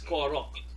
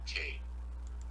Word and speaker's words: Karok: It's Korok. Actually, it's Korok. Karok. It's Korok. No? Korok. No, sorry. K-A Karok.